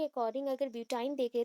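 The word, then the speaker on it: butyne: ऑफ ब्यूटीन, that is ब्यूटाइन। ब्यूटाइन का आपको जानना है, ब्यूटीन मैंने मेंशन कर दिया, एक्चुअली ब्यूटाइन है, प्रोनाउंसिएशन के अकॉर्डिंग ब्यूटाइन है।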